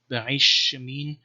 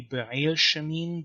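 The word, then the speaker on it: בעלשמין: And one thing you can see here is, for example, this name Be'aish Shemin, which should be Be'ail Shemin, but the lamad is assimilated to the sheen.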